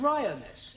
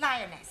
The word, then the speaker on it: lioness: l l r r you're not saying it right very sorry I know try saying roness lioness good well in future